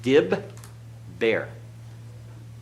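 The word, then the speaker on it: דִּבֵּר: And this is pronounced dib, bear.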